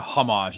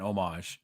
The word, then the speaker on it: homage: The H is silent, John. It's not a homage; it's an homage.